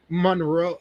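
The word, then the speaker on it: Monreaux: It's not It's like Monroe. Monroe, but it's M R E A U X.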